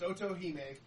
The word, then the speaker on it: Otohime: were getting wrong yeah the name was is otohime otohime the Japanese the Japanese um princess Dragon princess so it's otohime I'm terrible at pronunciation